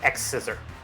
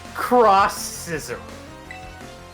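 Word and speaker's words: X-Scissor: X Scissor. Sorry, Cross Scissor. Well, that's why I missed it. It's because you said it wrong.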